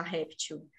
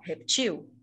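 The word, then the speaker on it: reptil: assento ou se você se a palavra está escrita sem acento você não pode falar réptil se ela tá sem acento você tem que falar repetiu Ok e se ela tiver com acento tem que falar réptil beleza Como eu disse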